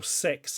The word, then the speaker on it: CEX: Or Sex, as I believe it's officially pronounced.